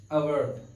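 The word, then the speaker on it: hour: नहीं करना है हमको, जो एच दिया है दोस्तों यहाँ पर, वो एच साइलेंट है। क्या है, साइलेंट। इसको अगर हिंदी में देखेंगे हम तो इसको ऐसे लिखेंगे, अवर। अवर पढ़ेंगे दोस्तों, इसको प्रोनाउंसिएशन कैसा होगा इसका, अवर।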